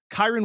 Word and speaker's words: Kyren: So I will take Kyren Williams over 18.5 rushing yards for his longest rush. I know I've flubbed that up a few times. Kyren Williams, longest rush, over 18.5 yards.